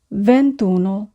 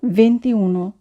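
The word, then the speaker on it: ventuno: করে থাকি ভেন্তি এটি আসলে ভুল উচ্চারণ আমরা উচ্চারণ করব ভ্যন্তি ভন্তন অনেকেই 21 কে উচ্চারণ করে ভেন্তিউন আসলে উচ্চারণ হবে ভান্তুন আমরা ভেন্তন বলবো না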